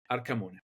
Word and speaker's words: Arcamone: Arcamone. This is my entire name. Listen to that Italian pronunciation.